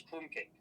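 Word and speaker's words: krumkake: It would be crumbake if it was a Japanese word because kake is specifically two letters in the Japanese alphabet. So know it's crumb cake.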